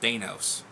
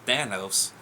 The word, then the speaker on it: Thanos: his name was at first I call him Thanos I don't know why but after watching a couple people's YouTube videos and his his name was actually pronounced Thanos I was like huh pretty cool but at